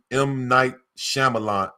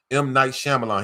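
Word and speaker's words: M. Night Shyamalan: You have to see it bro like yo it's a it's it's by a director named Might Shyamalan. I can't say his name. M Knight Shyamalan.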